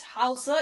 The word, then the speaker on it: Hausa: have, is it Hausa? Is that the right pronunciation?